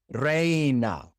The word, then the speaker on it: reina: reina In order to make the A sound in Spanish, you have to write it with E I because the E says A and the I says E. And so to say A, you have to write E I.